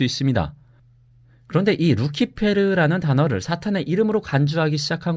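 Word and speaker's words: Lucifer: 이렇게 루시퍼가 사탄의 이름이라는 관념은이 구절의 헬레 라틴어 성경에서는 루키페르 혹은 루치페르로 번역된 데에서 비롯된 건데요. 루시퍼는이 루키페르의 영어식 발음입니다.이 단어가 원래 라틴어에서 가졌던 사전적 의미 역시 새벽의 금성입니다.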